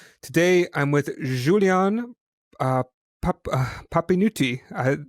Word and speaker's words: Papinutti: Today I'm with Julien uh, Papinutti. Did I say it wrong this time? The first time I said it correct. Is this right? Yes, it's fine. It's right.